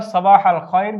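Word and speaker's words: صباح الخير: এটি আমরা সবাহাল খয়ের বলতে পারি। সবাহান নূর বলতে পারি। বাংলা উচ্চারণটি আমরা দিয়েছি সবাহাল খায়র উত্তরে আমরা সাবাহান নূর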